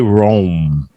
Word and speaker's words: Rome: Well, that's not how we say it in English. And maybe that's how they say it. I'm not sure how they say it in Italian. Yeah, Rome. But we're going to give that. In English, we say Rome.